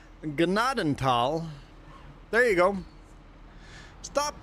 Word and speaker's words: Gnadenthal: Okay, so anyone that logged in here that wants to know how to pronounce Gennadal, there you go.